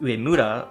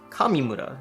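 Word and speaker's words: 上村: This name, usually pronounced Uemura, was often pronounced Kamimura in Okinawa.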